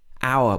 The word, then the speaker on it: hour: in english have a silent h also in words like hour hour when the h is followed by a verb so hour for example i'll see you in an hour also honest this is not